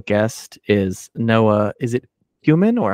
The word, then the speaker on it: Kumin: Is it Kumin or how do you pronounce that? You got it. First time. Kumin, like the spice.